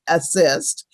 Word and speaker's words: ASST: Artists Standing Strong Together, ASST, which we pronounce assist, was started last year.